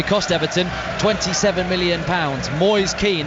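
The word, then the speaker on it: Moise Kean: Everton 27 million pounds boys keen that's how we say his name not moister cam we asked it before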